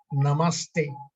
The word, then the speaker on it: Namaste: Namaste is pronounced Namaste, a composite of two Sanskrit words, Nama and Ste.